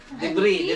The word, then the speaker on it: debris: Debris. AJ. EJ. Wait, I thought it was E too. Debris. Kasi silent S yun eh.